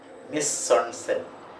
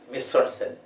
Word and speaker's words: mise-en-scène: Mise-en-scène. Mise-en-scène. Mise-en-scène. It is a French word. That is why it is pronounced like this. Mise-en-scène.